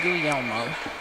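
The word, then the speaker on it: Guglielmo: Gul Elmo's name not turns out that g in that is silent and uh was never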